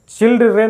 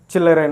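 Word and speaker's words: children: चिल्ड्रन नहीं। चिल्ड्रन। डी क्या होगा? साइलेंट। चिल्लरेन। ओके?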